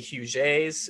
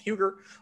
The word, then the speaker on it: Huger: Where you see Huge A's name, that's how it's supposed to be pronounced. It's a French Huguenot family, uh but a lot of people call it Huger.